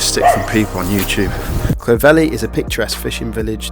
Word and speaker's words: Clovelly: here by the way I called it Clove Valley so I have no idea a lot of most